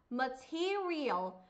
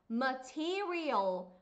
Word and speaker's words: material: า เ ม ะ น ะ ค ะ material material material แ ล้ ว เ ม ะ ท ำ